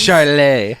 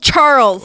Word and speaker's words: Charles: I pronounced that weird for no reason. I thought this was a fancy form of Charles. Charlet. Herbert. Charlet. No, not at all. Just plain old Charles, like an American.